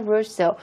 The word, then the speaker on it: Rousseau: 루소는요, 발음이 이제 어쨌든 프랑스 라스네임이기 때문에 한국말로 루소라고 했던 발음을 그대로 제가 읽을게요.